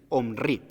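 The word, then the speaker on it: Omri: omir hombre un hombre no lo puedo pronunciar muy bien pero es una o m&r y omrí entonces lo importante aquí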